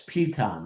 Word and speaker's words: Piton: Did I pronounce that correctly, Jim? It's Pon actually.